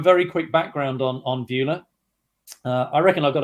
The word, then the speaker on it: Beulah: Chief Operating Officer of Beulah um it's a it's a tricky name to pronounce but if you remember the old American movie Ferris Bueller's big day out it's like Beulah Ferris Bueller Beulah and we are now